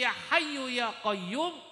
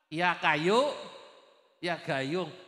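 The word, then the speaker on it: يا حي يا قيوم: Mbah Darwis tukang nyupiri bacanya mboten faseh mestine ya hayyu ya qayyum bacanya apa? Ya kayu ya gayung itu imma bisa jadi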